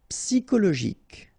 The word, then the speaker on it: psychologique: Psychologique, okay, remember it's an exception here because you've got this C-H-O. Normally we should pronounce it sho, okay, but in that case we pronounce it ko.